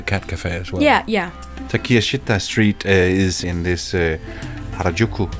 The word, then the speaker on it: Takeshita: My number 2 is Takeshita. I believe that's how it's pronounced. I went into Takeshita. Takeshita. Takeshita. That's at least what Google Translate said.